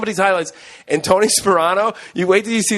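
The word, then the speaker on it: Tony Sparano: It's Tony Sperano. Yeah, Sperano. Tony Sperano. The P's in the beginning. Oh, okay. Yeah, it's not Soprano.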